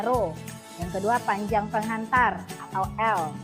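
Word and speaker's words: ρ: namanya hambat jenis pengantar simbolnya seperti ini bacanya roh yang kedua ajang penghantar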